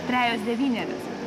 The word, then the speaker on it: Trejos devynerios: Trejos devynerios. Trejos devynerios. Trejos devynerios. Super. Thank you. Trejos devynerios.